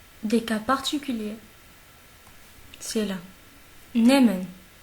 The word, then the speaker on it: nehmen: Nehmen, nehmen, nehmen. Vous voyez ici que le H est muet. Si vous vous rappelez, j'ai dit au début de vidéo qu'il y a des cas particuliers. C'est là. Nehmen.